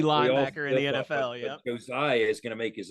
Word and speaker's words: Josiah: say my name right it's Josiah Josiah Josiah we all make the mistake not Jeremiah thank you we're so used to saying Jeremiah the nasty linebacker in the NFL yeah Josiah is going to make